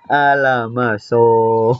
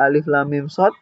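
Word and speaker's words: المص: Alamaso gitu bacanya ya. Akhirnya kan kita tahu, oh salah. Kita tahu salah. Dan cara yang baca yang benar adalah alif lam mim shad.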